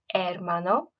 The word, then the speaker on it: hermano: feminine nouns practice again remember that the H is silent at the start of words so we don't want to hear any H sounds it it's just hermano and Mana okay um